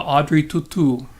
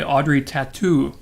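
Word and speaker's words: Audrey Tautou: happy 43rd birthday to audrey tutu or as americans say audrey tattoo audrey chateau to tell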